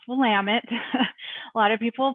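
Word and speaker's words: Willamette: of water is the wamama river and it's pronounced wamit a lot of people pronounce it wamity and Oregon I mean Oregon it's or Oregon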